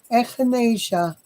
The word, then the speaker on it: echinacea: not a drug and it's called echinacea I'm pronouncing it correctly echinacea echinacea is a purple flower and it is